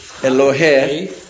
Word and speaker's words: Elohei: Elohei. We never pronounce the yod on the air, only on the hai, he, ha'avrim.